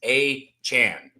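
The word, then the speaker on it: Achane: It's Devon, the first name, like de with the apostrophe von. Devon, and then it's achan. Okay, that's how it is. That's how you say it.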